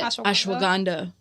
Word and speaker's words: ashwagandha: I mean, I don't even know how to pronounce it. Ashwan. What is it? Ashwagandha.